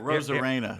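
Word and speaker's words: Arozarena: Randy Rosarina, how do you pronounce it? Rosarena.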